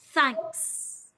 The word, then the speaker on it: thanks: sound in vietnamese it's put your tongue between your teeth like this then end the word with a s sound thanks thanks thanks she also made a